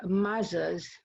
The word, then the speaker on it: mazza: pronounce the word p-i-z-z-a we pronounce it as if it had a t pizza so mazza and matza are the same name why are there so